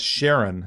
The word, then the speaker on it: Charon: And it's called Sharon, spelled with a C, Charon.